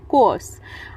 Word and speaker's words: coerce: कोर्स। कोर्स, आर हल्का सा silent रहेगा, इस तरह से प्रोनाउंस करेंगे हम।